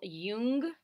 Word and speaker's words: Jung: personality theorist we in this presentation is carl jung that's how you say his name and he